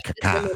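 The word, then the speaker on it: Kaká: is his last name but you know it's Kaka.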